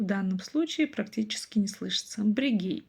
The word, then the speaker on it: бірегей: Брегей получается, брегей, брегей. Дальше помним о том, что как пишется, так и читается, и ни одна буква не искажается. То есть, если пишется буква Е, то и читается через букву Е. Через букву мы уже прочитать не можем, или через букву И, соответственно, тоже.